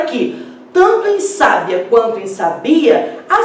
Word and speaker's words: sábia: No caso de sábia, nós temos uma palavra paroxítona.